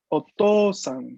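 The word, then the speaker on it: おとうさん: Otosan sería, porque aquí se aplica el mismo caso que la EI, ¿no? La U está ahí para mostrarme una O larga, una O que se alarga.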